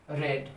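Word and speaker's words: read: ठीक है, तो आई हैव रेड। देखो रीड का तीसरा फॉर्म भी रीड ही रहता है, सिर्फ प्रोनाउंसिएशन बदलता है, प्रोनाउंसिएशन रेड हो जाता है और स्पेलिंग सेम रहता है।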